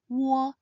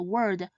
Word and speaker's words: Wo: When said quickly, Wo should sound similar to the O in the word walk or walk.